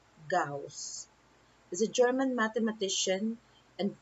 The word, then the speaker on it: Gauss: carl frederick cows so his last name is pronounced gauss is a german mathematician and physicist who made